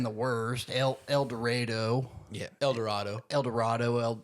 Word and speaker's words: El Dorado: El Dorado. El Dorado. Well, L I've heard it pronounced Eld Doradoo as well.